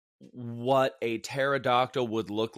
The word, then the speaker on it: pterodactyl: Why are we saying doctyl instead of dactyl? Dactyl. Pterodactyl. I've got all three of you saying it wrong.